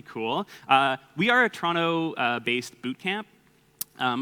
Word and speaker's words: Toronto: yeah so I'm from Toronto uh but it's pronounced Toronto no tea at the end there um yeah